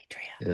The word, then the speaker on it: Adria: Adria is is how I I pronounce it.